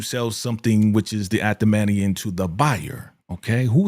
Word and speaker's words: Adamantium: Adamantium. Adamantium, right?